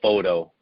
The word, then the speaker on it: Fauteux: name for me uh it's been americanized to photo so you can say photo it's it's but not too many people including myself can say it properly so photo is fine okay guys and